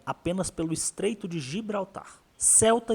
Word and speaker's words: Ceuta: Para entender essa história, primeiro precisamos localizar Celta no mapa ou CTA, como alguns espanhóis costumam pronunciar.